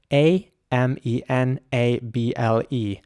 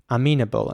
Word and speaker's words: amenable: to discuss is aminable a m e n a b l e amenable and for some reason I just pronounced the E here like a very long e amenable not amenable and it means open